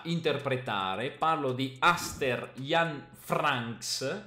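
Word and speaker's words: Vranckx: Parlo di Aster Jan Franks, mi raccomando la pronuncia, la V è una F, anche se lui è belga, Franks, perché gioca in Germania, quindi Franks.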